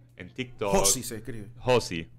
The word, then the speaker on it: Josi: tiktok Josi se escribe Josi Yo siempre digo que es Josi es un José mal escrito porque tiene una ía al final eh estoy en ex